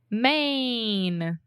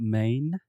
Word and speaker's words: Maine: it yeah i mean it's the same way that we say main right just like main street or the main point